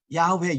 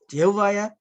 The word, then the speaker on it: 야훼: YHWH 자음으로만 기록되어서 모음을 붙여서 어떻게 발음하여야 하는지 분명하지 않았기 때문입니다.